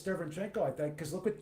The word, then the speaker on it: Derevyanchenko: How do you pronounce his name? I picked Derevyanchenko to win. Longest name ever, Shenko, yeah. Derevyanchenko.